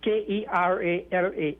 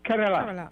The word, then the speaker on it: Kerala: india yes now that state is is is k-e-r-a-l-a it's pronounced kerala yeah not not kerala as your news classes